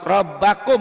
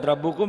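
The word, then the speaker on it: رَبَّكُمْ: wattaqullaha rabbukum Wattaqullaha rabbakum bukan rabbukum ya teh.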